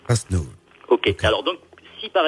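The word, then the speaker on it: Rastnûv: un mot, le mot Rast-Nouv. Ça s'écrit. R-A-S-T-N-U-V. Rast-Nouv. Avec un accent circonflexe sur le U parce que ça se prononce OU. Ce qui fait Rast-Nouv. Rast-Nouv.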